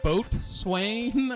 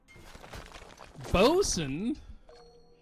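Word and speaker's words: boatswain: this name is it boat Swain or is it boat Swain I'm this is breaking me bosen is that how bosen is spelled my God I have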